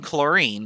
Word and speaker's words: chlorine: about but not always there is an h in chlorine believe it or not the age is silent i guess but we don't